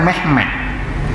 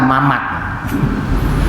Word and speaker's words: Muhammad: tidak berotak mana masalah contohnya Bersama saya Muhammad orang Jawa itu bacanya tidak Muhammad Orang Afrika lagi bacanya magma Dut orang Rusia Mohammad sama dengan Jawa itu Rusia orang Turki medali mehmed Muhammad ya baca Mehmet kalau kita akan Memet juga Hai Kalau Sunda Mamat tapi Maksudnya Nabi Muhammad